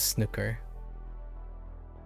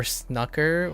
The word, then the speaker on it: snooker: That's how it's pronounced in England as well. Okay. Snooker. Okay. Like rook. Rook. Nook. Or is it Snoo or like oud in food?